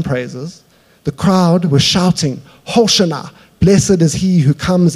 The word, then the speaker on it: Hosanna: And when James helped me with the pronunciation here, Hosanna, that's why I've been saying it weird the whole time. That's how it's pronounced.